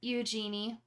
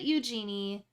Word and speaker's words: Eugenie: But they call her Eugenie. And I'm like, you named her after Princess Eugenia, but you pronounce it Eugenie.